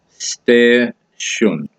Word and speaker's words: station: the word station but in norol it's pronounced differently so to continue your education into the norol dialect we're going to look at the word station it's pronounced stair sh stair shun and norid is pronounced